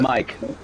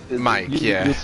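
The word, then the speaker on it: Maik: Mike, You say Mike, just Mike. It's the German Mike. Yeah. It's pronounced Mike in German as well? Yeah. We know the M-I-K-E as Mike, and some German parents said my son should be called Mike in a German way, and so they spell it M-A-I-K.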